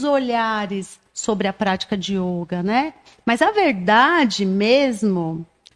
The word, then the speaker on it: yoga: A pronúncia correta, pela transliteração do sânscrito para o português, é yoga, com o O fechado.